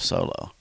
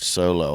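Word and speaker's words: SoloW: But everybody always pronounces it wrong. They go solo. I'm like, no, that's a grunge band. Solo. As soon as I hear it, it's like solo, Han Solo.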